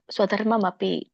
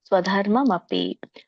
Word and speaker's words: ಸ್ವಧರ್ಮಮಪಿ: ಸ್ವಧರ್ಮಂ ಅಪಿ ಅಂತ ಹೇಳಿ ಇಲ್ಲಿ ಎರಡು ಪದಗಳಿದೆ ಸ್ವಧರ್ಮಂ ಆಮೇಲೆ ಮ ಆದಮೇಲೆ ಅಪಿ ನೀವು ಕೂಡಿ ಹೇಳಬೇಕು ಸ್ವಧರ್ಮಂ ಸ್ವಧರ್ಮಮಪಿ ಸ್ವಧರ್ಮಮಪಿ ಇಲ್ಲಿ ಮ ಕ್ಕೆ ಅರ್ಕಾವಳಿ ಇರೋದ್ರಿಂದ ಧ ಆದಮೇಲೆ ರ ಫಸ್ಟ್ ಉಚ್ಚಾರಣೆ ಬರುತ್ತೆ ಸ್ವಧರ್ಮ ಸ್ವಧರ್ಮ ಸ್ವಧರ್ಮಂ ಅಪಿ